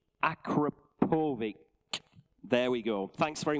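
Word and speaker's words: Akrapovič: And thanks for putting me right on the pronunciation. Akrapovic.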